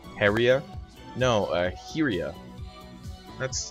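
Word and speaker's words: Hyrja: Right, but the way you pronounce that J is almost like a Y.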